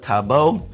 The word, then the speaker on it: tabo: Next thing over in the Philippines that's a little bit weird is their use of tabo. Tabo. People here always tease me about how I pronounce that, T-A-B-O.